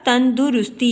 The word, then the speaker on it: تندرستی: علامت لگائی جاتی ہے۔ پھر لفظ ہے تندرستی، جب ہم اس کو بولتے ہیں، پڑھتے ہیں تو ہم لکھتے ہیں بولتے ہیں تندرستی، تو صحیح تلفظ ہے اس کا تندرستی، یعنی دال کے اوپر ہم نے پیش کی علامت پڑھی۔ پھر ہے لفظ امتحان،